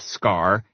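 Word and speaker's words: Skaarj: You know, people who condescendingly say the J is silent.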